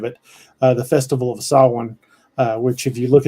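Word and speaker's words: Samhain: the history of it uh the Festival of saw one uh which if you look at the way it's spelled it's spelled Sam Hayne but I know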